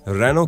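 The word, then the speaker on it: Renault: को भूल जाएं और इसे बस रेनो कहकर उच्चारित करें चेहरे को लोग अक्सर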